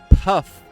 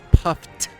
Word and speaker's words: Puft: puft marshmallows oh wow this whole time i thought it was stay puff not stay puffed with the tea at the end there hard tea i've